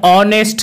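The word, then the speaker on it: honest: লেটারটির উচ্চারণ করা হচ্ছে, কিন্তু যদি ওই এইচ লেটারটির উচ্চারণ সাইলেন্ট থাকে, অর্থাৎ ওই এইচ লেটারটির উচ্চারণ যদি না করা হয়, তখন কিন্তু সেক্ষেত্রে এ না বসে অ্যান বসবে, যেমন an hour, an অনেস্ট ম্যান।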